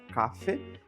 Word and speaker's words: café: A palavra café a gente vai pronunciar café e significa o espaço, a cafeteria.